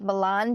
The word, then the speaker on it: Milan: so um milan ohio which i am going to call it milan because that is the correct pronunciation happens to be the